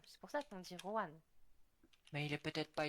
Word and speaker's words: Juan: mais tu sais, en espagnol, le J se prononce re. C'est pour ça qu'on dit Juan.